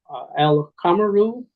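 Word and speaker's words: al-qamaru: you will see That al kamaru uh the aliflam you pronounce it as al the is a moon letter there's no shed over it so alum and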